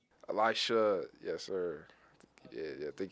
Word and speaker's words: Elisha: played did i say your first name right elisha yes sir yeah i think he did yeah